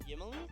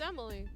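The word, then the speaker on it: Ymily: It's spelled Y-M-I-L-Y. All right. Yimily? I have, No, it's pronounced Emily.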